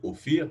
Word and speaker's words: Ophir: Donc, vous voyez, la prononciation, c'est Ophir, donc racine consonantique FR.